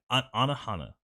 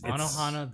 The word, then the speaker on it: Anohana: Anohana. That's I'm pronouncing that correctly. Yes. Okay, I want to look that up because I've not heard of that. This is my first time hearing. It's Anohana, the flower we saw that day.